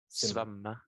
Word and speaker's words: svømme: You see, in Norwegian you say it as the same as in Dutch, zwemmen.